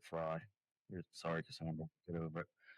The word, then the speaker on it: Frey: It's spelled F re, but I think that she pronounces it fry.